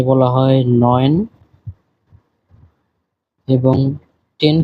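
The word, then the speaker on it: neun: 9 কে বলা হয় নয়েন এবং 10 কে বলা হয় সেন। আপনারা এই উচ্চারণগুলি সহ দেখবেন।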